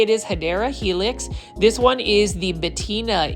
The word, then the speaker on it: Hedera helix: And over here is another Hedera helix, or the correct way to say it is Hedera helix.